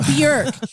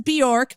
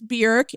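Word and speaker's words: Björk: were in Iceland Bor it's pronounced BK everyone says Bor but it's BK it Rhymes The Jerk that feels low-key racist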